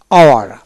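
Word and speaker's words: hour: তারপর OUR, আওয়ার, আওয়ার, এইচ উচ্চারণ হবে না।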